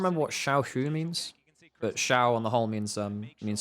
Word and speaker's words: Xiao: way quick pronunciation thing it's not Xiao spoken with like a z it's shiao as as though is an sh in English shiao rather than Xiao um and Shia means